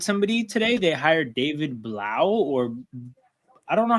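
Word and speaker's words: Blough: I think it's Blau. Hold on, let me look it up. Pronunciation. The Blau. It is Blau. Blau. Blau. Yeah, like cow.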